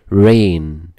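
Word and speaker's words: reign: ميوزيم ميوزيم ميوزيم متحف ين رين طب هتقوللي حرف الجي ده سايلنت ما بيتنطق ين ين يعني حكم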